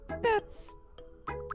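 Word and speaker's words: Badtz: Pronounce it like bat, plural. Good evening, bats.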